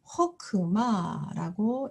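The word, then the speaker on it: חָכְמָה: 똑같은 카마츠이지만 이것은 지금 자음과 모음과 또 자음 카프가 온 폐음절입니다. 그래서 장모음이 아니라 단모음에 해당하는 거죠. 음이 짧아졌고 강세도 없기 때문에 이때는 카메츠가 장모음이 아니라 오 단모음으로 사용이 됩니다. 그래서 허크마라고 읽게 됩니다.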